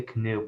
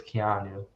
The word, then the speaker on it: Keanu: hear something about that I always want to say canoe but I know it's Keanu Keanu Reeves yeah I